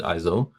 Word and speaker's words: Iseult: Well, it's actually interesting because it's spelled in this game Iseult, so I pronounce it Izo, but in the actual legend, it's spelled Isolde.